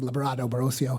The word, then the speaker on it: Librado Barocio: Uh, and the reason why it's Labrado is I uh it's very hard to say my name, Labrado Barrosio.